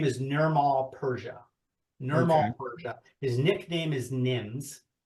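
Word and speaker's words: Nirmal Purja: his real name is Nirmal Persia.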